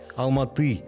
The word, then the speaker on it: Алматы: буквальном смысле на ладони алма-ата на русский манер и по старому названию города алматы с ударением на последний слог на казахский манер а до 1921 года